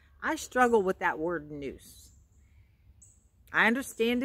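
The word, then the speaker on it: nous: There is a noose in between the two.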